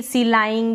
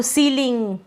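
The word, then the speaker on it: ceiling: पर हमने देखा कि ई आई को हम पढ़ेंगे बड़ी के रूप में अब यहां पर अगर आप बड़ी आप ऐसे पढ़ देंगे सीलाइन या गलत पढ़ देंगे ठीक है तो सीलिंग conceit decide deceive conceive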